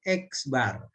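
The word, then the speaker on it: x̄: ini nah ini nah dibacanya itu X bar ya jadi membaca ini membaca ini adalah x bar Kalau ditulis begini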